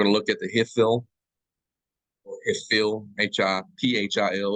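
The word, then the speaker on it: Hiphil: So we're going to look at the Hifil, or Hifil, H-I-P-H-I-L. It's spelled H-I-F-I-L in your book, right?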